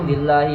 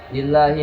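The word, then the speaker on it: لله: Dilanjut dengan ayat yang di akhir Al-Baqarah itu billahi ma fis samawati wa ma fil ardi. Harusnya wa in tubdu ma fi anfusikum. Ini dibacanya lillahi ma fis samawati wa ma fil ardi man dzalladzi yashfa'u.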